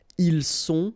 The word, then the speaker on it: ils sont: Ils sont, final T not pronounced.